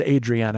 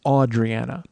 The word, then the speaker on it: Audriana: My name is pronounced Audriana." Not the standard Adriana. It's Audriana.